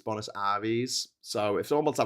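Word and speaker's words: Buenos Aires: Apparently it's not Bonis Aries, it's Bonis Aris.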